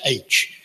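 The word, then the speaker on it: aitch: It's not H, it's H. It's spelled A-I-T-C-H. You'll find it in the dictionary.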